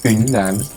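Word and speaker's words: Yunnan: This costume is from Yunan? Yunan. Sorry. So how do I made a mistake. I'm sorry about that. So how do you say that again? Yunan.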